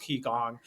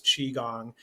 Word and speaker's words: Qigong: using Q and I, and so it's often pronounced Qigong, but they mean it to pronounce Qigong, kind of like Qi.